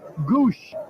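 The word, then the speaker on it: Gwosdz: them some character though gwos DZ is the spelling for the pronounced Goose well his nickname is eye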